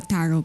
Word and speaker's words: tarot: should look like a tarot card tarot tarot tarot i don't know how to pronounce why are they baiting me the tea and tart is never pronounced yeah okay okay